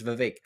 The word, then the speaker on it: Vivek: No, Vivek, but it's not Vivek, it's Vivek.